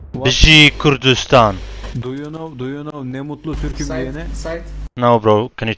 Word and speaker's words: Ne mutlu Türküm diyene: Do you know ne mutlu Türküm diyene? Side. No bro, can you teach me? Ne mutlu Türküm diyene means I am glad I am Turkish. Say it again. Ne mutlu Türküm diyene.